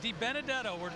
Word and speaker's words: DiBenedetto: That's right, DiBenedetto. Everybody keeps trying to put an extra syllable in it this weekend.